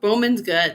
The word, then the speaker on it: Bowman: Dork Forest is Denver Comic and Delight Bowman Bowman uh is it Bowman I'm doing Bowman right nope Bowman's good yeah I did it I did it right